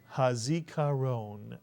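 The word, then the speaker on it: הזיכרון: And the last syllable? Ron is correct. Let's put the word together. Hazikaron, Mitsuyan, Hazikaron, Mitsuyan.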